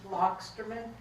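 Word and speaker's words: Loxterman: can still tell me your full name lockerman you're going to have to spell that last name I think we get the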